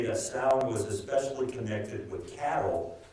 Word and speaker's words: Samhain: It looks like Samhain, S-A-M-H-A-I-N. It's a Gaelic Celtic word. And one thing I've learned about the ancient Gaelic language, it's never pronounced how it looks.